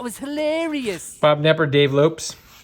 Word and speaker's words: Lopes: Bob Nepper, Dave Lopes. You always think his name was Lopez, but because of the S, it's pronounced Lopes.